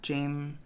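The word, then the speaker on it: Jaime: that is Jamie French I think it's pronounced Jamie French and not Jame cuz it's spelled j a i m e but she's very she's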